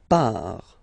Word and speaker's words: part: Il, elle, part. Final T not pronounced, il, elle, part.